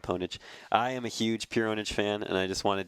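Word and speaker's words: Pure Pwnage: Pure Onage. Technically, they pronounce it Pure Onage. Well, there you go. But yeah, spelled Ponage. I am a huge Pure Onage fan, and I just wanted to include this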